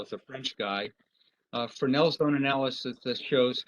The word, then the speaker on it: Fresnel: f r s n e l but it's pronounced cornell as a french guy uh fresnel zone analysis that shows how high microwave antennas